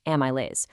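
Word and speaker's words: amylase: Your saliva is loaded with a powerful digestive enzyme called amaase. That's pronounced amias.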